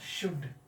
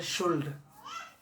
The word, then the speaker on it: should: इसका शुद्ध उच्चारण द एप्लीकेशन ऑफ शुड। कितने छात्र छात्राएं पढ़ देते हैं शुल्ड? क्या पढ़ते हैं? शुल्ड, जिसका स्पेलिंग SHOULD। ये गलत, this is the wrong pronunciation.